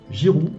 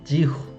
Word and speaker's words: Giroud: Ensuite, pour les attaquants, on a Ben Yedder, Coman, Giroud, 지후.